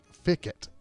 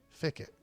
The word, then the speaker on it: Fickett: the answer Mrs F Fickett am I saying that right f i c ke t t Fick it I think I said that right hopefully I say it